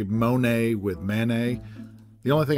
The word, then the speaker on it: Monet: to compare let's say Monet with mayonnaise the only thing I'm pretty sure of is that you're not supposed to pronounce the T in either one the truth is I